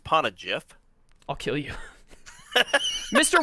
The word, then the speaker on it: Poneglyph: It's pronounced Poneglyph.